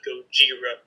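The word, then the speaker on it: ゴジラ: dad actually thought that Gojira was like a racist way to say Godzilla but if you read the kanji for Godzilla you actually pronounce it Gojira with the J so fun fact while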